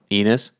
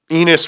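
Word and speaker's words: Enes: it almost did what enis no i didn't it sounded like it no um enos rhymes with anyway the point is other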